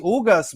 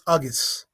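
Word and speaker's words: Ugás: My prediction is Ugas, B. Pero vamos a ver lo que pasa. Yo, bro, that's not how you say it. It's Ugas. It's Ugas. It's Uggs.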